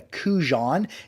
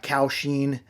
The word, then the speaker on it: Kaohsiung: I mispronounced it in the video. I called it a Kujan. This is a Kaohsiung.